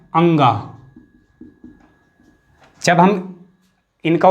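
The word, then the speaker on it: ङ: इनका उच्चारण स्थान जो सही उच्चारण है क ख ग घ अंगा, च छ ज झ इया, तो इसे हम बोलते हैं इया। मैं लिख रहा हूं यहां पे इया। और ट ठ ड ढ अणा, इसे बोलते हैं हम अणा। तो इनमें भी काफी कंफ्यूजन रहता है, तो इनका उच्चारण स्थान अलग अलग है। इसे अंगा बोलते हैं, इसे इया और इसे अणा।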